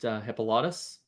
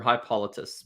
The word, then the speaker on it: Hippolytus: father chicata raised against hippolytus or high politicists as you more correctly pronounced it well you got to make sure not to put the extent on the wrong syllable you know yeah love